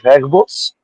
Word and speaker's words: Herbos: So my name is Herbos um which has a more of a Belgium and German pronunciation um and I uh